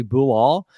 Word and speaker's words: Bilal: I found those pronunciation his first name is actually boo all so that be something